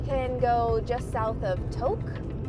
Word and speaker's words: Tok: go just south of Tok. I think that's how people pronounce it, T-O-K.